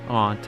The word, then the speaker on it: aunt: to say or whether you prefer to pronounce Aunt as aunt or Aunt I I interchange mainly because I used to say ant all the time but I wanted to change it to Aunt but then like every